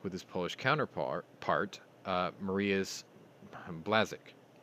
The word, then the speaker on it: Błaszczak: his Polish counterpart, Mariusz Błaszczak. I think that's Błaszczak. And Błaszczak? Błaszczak. Blaszczak. Błaszczak, yeah. It's almost like saying Chiswick, but it's spelled Cheswick.